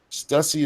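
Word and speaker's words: Stüssy: Stussy is pronounced the same as pussy.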